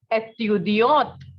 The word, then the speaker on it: étudiante: Similarly, a female student is étudiante. You can clearly notice that the sound of T is coming in the case of female one, right?